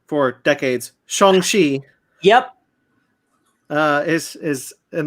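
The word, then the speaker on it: Shang-Chi: yeah okay uh apparently we've been pronouncing this name wrong for decades shongi yep uh is is in the legend of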